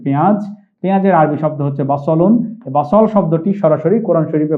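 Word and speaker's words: بصل: তাহলে শব্দটি আমরা, এটা কিন্তু এই যে দন্ত স লিখেছি, এটি সিন নয়, এটি সদ। এখানে আমরা দেখছি বা স, সদের উপর জবর রয়েছে, তাহলে আমরা উচ্চারণটি করব বাসলুন।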